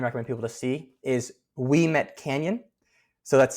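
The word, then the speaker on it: Ouimet: The other absolutely beautiful spot in the Thunder Bay area that I definitely recommend people to see is Weet Canyon. So that's spelled O U I M T.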